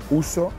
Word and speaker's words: ouzo: He probado también ouzo, que se escribe O-U-Z-O.